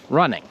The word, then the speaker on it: running: going to the store other times we'll pronounce the g softly running you could hear that there is a little bit of a g but i'm not stressing it i'm not saying running not in the same way as if i had a word like song do you hear how the g in song is strong running song so my